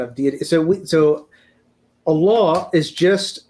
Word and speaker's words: Allah: they become fused and they become and is pronounced Allah right and so that's that's where the name